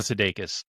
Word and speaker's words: Sudeikis: How do you pronounce his? Oh, Jason Sudeikis.